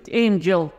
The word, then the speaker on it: Angel: ايه وده الرمز بتاعه شايفين الستريس فين الضغط فين يا جماعه هتلاقيه على اول اول الكلمه لانه ده اسم